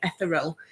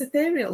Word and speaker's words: ethereal: to say it because I kept saying eal and I kept looking at the word and I just could not get my head around how to say it but it's ethereal apparently and I did not